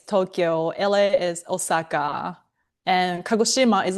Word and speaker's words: Kagoshima: It's called Kagoshima. The Yeah, Kagoshima. And it's like Hiroshima.